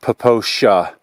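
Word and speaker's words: Popo Agie: is actually PR pronounced the this Wilderness is pronounced poosha I don't know how it's spelled but it's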